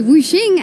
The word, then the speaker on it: Wuxing: I'm joined here by Wuxing, as I was advised by Wenson is the correct pronunciation, for the AD carry